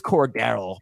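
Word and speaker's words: Cordarrelle: debate about that on the show it is core Daryl Patterson uh Drake London is a top 24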